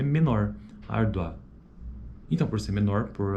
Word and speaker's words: árdua: Ele é crescente porque, ó, árdua, árdua, é a segunda vogal que tem proeminência acentual. Esse U, ele praticamente some. Não é que ele some, mas ele é menor. Árdua.